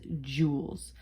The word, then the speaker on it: Joule: after him all right this is pronounced just as if we're talking like like jewelry jewels okay units the measure